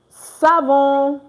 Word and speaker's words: savons: Nous savons. Of course, you don't pronounce the S again.